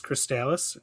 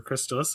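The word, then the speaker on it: Crystalis: Um, so the first one is Cristalis or Crystallis. I've heard it pronounced both ways for the NES.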